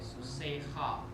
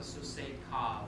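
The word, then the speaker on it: סוּסֵךְ: it's ch, like susei ha. okay. You can pronounce it susei ka, but it sounds better with susei ha, and that's the correct pronunciation of that.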